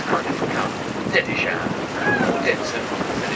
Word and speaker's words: Dittisham: On the left-hand side, we have the village of Dittisham, or Dinson, as it's pronounced locally.